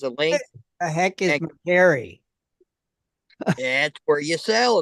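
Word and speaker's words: Mercari: if jiren has a link the heck is McCary that's where you sell it's like eBay but it's called McCary it's really big and popular it's really growing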